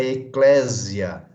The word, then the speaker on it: eklésia: latim também é em poesia né e a pronúncia Eclésia Ok então essa essa palavra aí na verdade